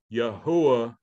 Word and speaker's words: Yahuwah: hey wah hey so the pronunciation of that would be yahuwah da okay so it